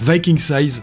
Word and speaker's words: VIKINGsize: dans la description, et il prononce Viking Size à l'anglaise Viking Size, et j'avais envie de